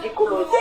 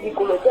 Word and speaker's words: Dikoloté: Moi je vais prononcer son nom. Achille Dikoloté là. Nadège Mbapa a demandé que rembourse-moi tout mon argent que j'ai préparé tout le week-end là pour recevoir des invités. C'est pas Dikolo. C'est pas Dikolo qui avait remboursé l'argent là.